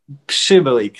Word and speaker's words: Przybylik: Przybylik. So P before the sh, and it's perfect.